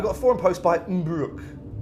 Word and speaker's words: Mbruc: I've got a forum post by Mbruck. I guess that's how you say it, M-B-R-U-C.